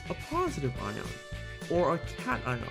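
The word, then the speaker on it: cation: The first type of ions we have is a positive ion or a cat ion. It's pronounced cat ion.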